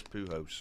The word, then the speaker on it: Pujols: that on him, but it is Pujols. Is what 14th selection to the All-Star game for Pujols. Make that J and H, Mike.